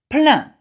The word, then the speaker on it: plein: Now, the sound E-I-N, again, it says is pronounced A. So, ceinture, belt. Plein, that means full, plentiful. Peinture, that means painting. Éteindre, that means to switch off. Again, it's a sound, okay? E-I-N is A.